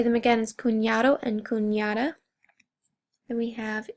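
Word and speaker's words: cuñado: And what that does to the N is give it kind of a Y sound. So it's kunada and kun.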